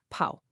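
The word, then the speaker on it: 泡: When we add the water radical, we get this character, pao, pronounced pao.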